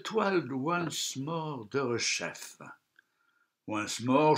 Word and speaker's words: Once More: Once More se prononce comme en anglais.